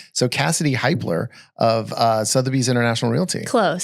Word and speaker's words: Hiepler: So Cassidy Hiepler of Sotheby's International Realty. Close. Hiepler. Yes, that's it. Hiepler.